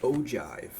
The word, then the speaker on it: ogive: Our cumulative frequency polygon is called an ojive. This is a soft G sounds like a J.